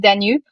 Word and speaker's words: Danube: It's again a thing where I think it depends from where you are. I call it Danube because that's how it is called in French.